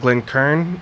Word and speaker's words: Glencairn: But so this is gonna be called a Glencairn. It's also sometimes pronounced Glencairn, apparently, but we're not in Scotland or Ireland. That's fine.